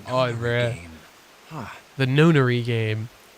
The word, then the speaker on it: Nonary: The Nonary game. I always say it Nonari. I've never heard it pronounced before. Why did I say it Nonari? That sounds weird now. But Nonary sounds weird as well.